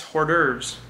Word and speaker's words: hors d'oeuvres: in orders oh jeez it's PO with an H like hor de RBS hor d'oeuvres look at that silent H okay now you know